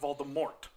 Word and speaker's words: Voldemort: But J.K. Rowling had actually once said that it was supposed to be pronounced Voldemort with a silent T.